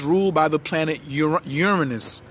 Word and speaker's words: Uranus: creativity because it's ruled by the planet Ur Uranus not your anus not my anus or your anus but Uranus is the correct pronunciation it's unpredictable so so um it is